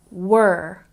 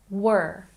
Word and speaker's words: were: And were. Not where. Were. Were.